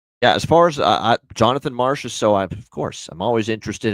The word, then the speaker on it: Marchessault: So I don't mind the John Masserol look here as far as goal props here. That never gets old. Don Cherry calling him John Masserol.